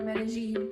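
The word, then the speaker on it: Medellín: Medellin, or Medellin, as the locals say.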